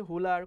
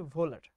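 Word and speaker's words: Wöhler: কোনো বইতে হুলার, কোনো বইতে হুইলার, কোনো বইতে ভোলার লেখা আছে, বাট প্রোনাউন্সিয়েশনটা হচ্ছে ভোলার, ভ এবং ভয়ের মাঝখানে।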